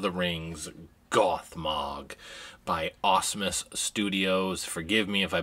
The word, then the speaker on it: Asmus: rings goth mog by awesomes studios forgive me if i butchered that if i didn't say it right but i pronounce it as awesome studios asmus this is their rendition